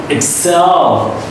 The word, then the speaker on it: excel: You push, you stress the last sound, excel, excel, least.